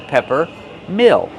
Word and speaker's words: peppermill: So, pepper use a short s sound like head and red. Pepper. This is a pepperm mill. Use a short sound like this is mm mill plus a dark l.